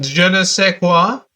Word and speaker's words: je ne sais quoi: It's pronounced je ne sais quoi.